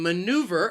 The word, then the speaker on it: maneuver: k sound heimlich and maneuver has three syllables and the stress is on that second syllable this is also